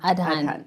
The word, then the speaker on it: Adhan: like that is because of the what's the pronunciation? Adhan.